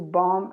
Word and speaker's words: bomb: Then we have, this is very easy, because to bomb and bombardment. Bomb, remember, without the B, a silent letter.